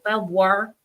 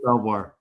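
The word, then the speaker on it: Belvoir: words how do you say it Mike for belir Virginia Fort belir BVO there you go so if you are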